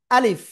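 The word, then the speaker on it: ألف: আলিফ এটা কি আলিফ কোন জায়গা থেকে উচ্চারণ হবে আ এমন বলব মুখের খালি জায়গা থেকে উচ্চারিত হয় কিন্তু শেষের দিকে এসে নিচের ঠোটের পেট উপরের দুই দাঁতের আগায় লেগে হালকা বাতাস বের হয় ঠিক আছে এ অক্ষরে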